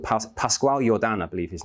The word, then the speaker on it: Pascual Jordan: there was another pioneer in quantum mechanics called Pascual Jordan, I believe his name is pronounced, who was a defender of positivism, pioneer